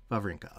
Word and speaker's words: Wawrinka: How do you pronounce that? Wawrinka.